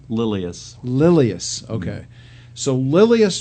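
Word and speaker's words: Lilias: How do you pronounce her first name? Lilius.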